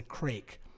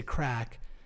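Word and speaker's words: craic: and it's a term it's spelt c-r-a-i-c crack it's a crake but they say crack and i was like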